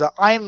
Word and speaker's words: Ayn: uh my favorite summary is Ayn rhymes with mine.